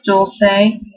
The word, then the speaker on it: Dulce: Anyways, the first name, I believe this one was suggested on Formspring, is Dulce, or there's several different pronunciations for this.